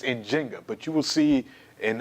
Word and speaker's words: Njinga: Now, you might see her name pronounced Nzinga, but historians, particularly Thornton and Linda Haywood, whose book we'll talk about soon, they kind of said, the more proper way, and particularly when we look at how the Kiambundu language is spoken, is probably a J. So it's Njinga, but you will see